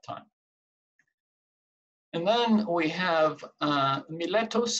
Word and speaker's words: Miletus: and then we have Miletus or my lettuce some people pronounce it it's the city of